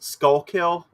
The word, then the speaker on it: Schuylkill: It's pronounced Skullkill.